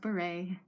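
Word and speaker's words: bourrée: this is the bourree right it's french it's pronounced beret um and right now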